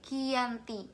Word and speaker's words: Giyanti: yaitu di desa Janti di dalam pelafalan Belanda tersebut sebagai kiyanti dan secara tertulis ia